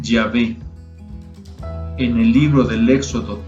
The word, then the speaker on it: Yahvé: Estas 4 letras se pronuncian Yahvé.